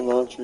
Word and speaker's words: Elantra: Oh, Hyundai Electra. That's the car you had when it came. Elantra, yeah. Goes for what? Elantra, yeah. Yeah, Elantra. I pronounced it wrong.